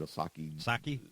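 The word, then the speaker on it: Psaki: how you say it osaki sukiyaki yeah yeah that one oh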